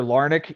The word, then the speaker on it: Larnach: had a feeling for uh this other guy larnach who's still on his team um is that how you pronounce his name uh Trevor larnick yeah what I want to look at here